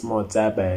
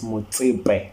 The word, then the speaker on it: Motsepe: It's not Patrice Motsepe, it's Patrice Motsepe, man. Say it right, man.